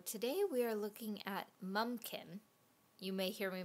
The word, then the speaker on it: Mumkin: aware of so today we are looking at mumkin you may hear me mispronounce it as mumpkin that's how I said it as a kid so this is mumkin m u m k i n as if